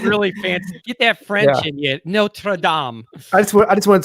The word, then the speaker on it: Notre Dame: your comment section said I'm pronouncing Notre Dame wrong there's no D and Notre Dame so - a Touche all right no true aim Oh sounds really fancy friends yet notre Dom that's what I just